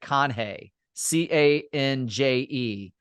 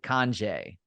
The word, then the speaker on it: Canje: It looks like Canje, Canje, but they pronounce it Conjay.